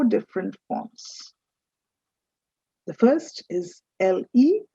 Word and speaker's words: le: forms the first is l e that's pronounced as le then you have l